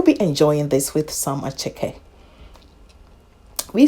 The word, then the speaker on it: attiéké: The name, it sounds like it's attiéké. Well, but yeah, it is a French word anyway. So you go with the French pronunciation.